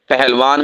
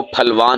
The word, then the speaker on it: پہلوان: پھاڑ۔ پہلوان میں ڈنڈے والی ہا ہے، نہ کہ آنکھوں والی ہا، وہ آپ لکھیں گے تو وہ پہلوان نہیں ہوگا، وہ پھلوان ہوگا۔ اسی طرح ہماری اردو